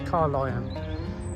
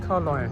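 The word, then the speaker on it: Carlyon: of car lion bay sorry i've pronounced it wrong before it's car lion car l y o-ring car lion it's pretty straight forward been down there before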